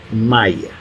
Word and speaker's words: malla: universo es como una malla. Uh-huh. Pero si la pronunciamos yo qué sé, malla decimos nosotros, uh-huh, pero un colombiano, ¿cómo diría? ¿Cómo pronunciaría malla? Ni idea. Maya.